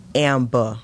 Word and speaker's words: Amber: And my name is not Dr. Amber. It's not Dr. It's Amba. I don't The e r is silent. It's a A at the end of that.